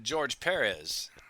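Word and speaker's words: Pérez: Oh, George Perez. There you go. The accent mark over the first E. Yeah. Yes. It's not George Perez.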